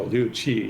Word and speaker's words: Liu Qi: And the Q is pronounced as a basically CH. So Chua. Luchi. Oh, Liu Qi, yeah.